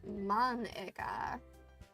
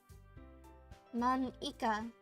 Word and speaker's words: Mana: right in your name Mona it's not how you say say my name at all Mana also that joke makes